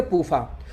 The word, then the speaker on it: PUFA: इसको शॉर्टकट में पढ़ेंगे पूफा।